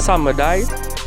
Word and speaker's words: Samadhi: Some of Kashin Koji powers include Flames of Samadhi, or according to the pronunciation, it will be Samadai, which is similar to the Amaterasu.